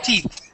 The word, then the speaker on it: teeth: one all right so with the the th at the end we say t that's we end with our tongue in the middle of our teeth okay teeth teeth there you go